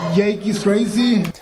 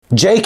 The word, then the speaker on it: Jake: Jake is how you pronounce Jake.